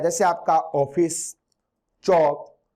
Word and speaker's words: ऑफिस: इसका उच्चारण न तो आ होता है, न आपका क्या होता है? ओ होता है। आ और ओ के बीच में होता है इसका उच्चारण।